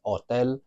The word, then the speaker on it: hotel: We never pronounce the H in Spanish, with the exception of some words that are from a foreign language, like the word hippie.